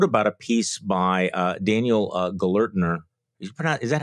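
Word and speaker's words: Gelernter: And I wrote about a piece by Daniel Gellertner. Is that how you pronounce the name?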